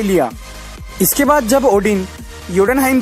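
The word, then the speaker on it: Jotunheim: Spelling के हिसाब से तो इसे जोटनहाइम पढ़ा जाना चाहिए, लेकिन इसे योटनहाइम कहा जाता है।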